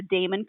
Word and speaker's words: daemon: in the uh okay is it Damon or how do you pronounce d a e m o n Damon okay I thought so but all right that's